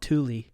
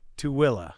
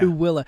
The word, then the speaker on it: Tooele: would think it sounds, and we'd call it Thule. Thule, yeah. Yeah. No, Tooele. Yeah, where's the A on the end of where's the coming from? Yeah. Tooele.